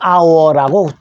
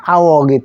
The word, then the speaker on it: hour: 자, 그래서 한 시간이라는 말이 on hour라고 주의해서 하십시오. 왜 H가 들어갔는데 on 쓸까요? H는 묵음입니다. 소리가 안 났어요. 그래서 아만 됩니다.